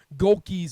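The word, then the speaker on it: Gohlke: Because, like, Golke's an easy one. It's 2 syllables.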